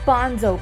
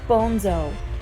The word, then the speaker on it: Bonzo: "Not Bonzo, pisshead. Bonzo. The name's Spanish.